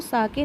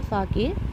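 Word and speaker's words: sake: सा is pronounced like फा इन the father. तो फादर में जैसे हम फा प्रोनाउंस करते हैं वैसे ही सा को प्रोनाउंस करेंगे। एंड के राइम्स विद वे, तो के का राइमिंग ये दिया हुआ है वे, लेकिन इसको पढ़ेंगे क्या?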